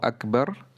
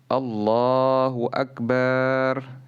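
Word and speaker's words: أكبر: pengucapan yang salah dan tidak boleh memanjangkan huruf ba menjadi Akbar Jadi kalau ada yang bertakbir Allahu akbar ini salah tidak sah pelafatannya karena maknanya berubah Akbar adalah yang terbesar kalau Akbar artinya gendang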